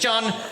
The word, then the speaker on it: Jon: My name is Jon. It's without an H though, so it's pronounced slightly faster than John. None of this John stuff. Just Jon with me. Just Jon.